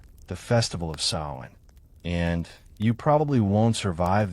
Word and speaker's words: Samhain: Samhain, pronounced Samhain, marks the line between those halves.